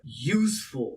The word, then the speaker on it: useful: Useful again.